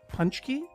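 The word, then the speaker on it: pączki: yeah i know this is pachkey punch gear punch key okay and so here on your little uh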